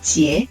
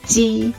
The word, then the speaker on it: 杰: 而且以这个名字为例子，我听过老外把杰念成鸡，就像你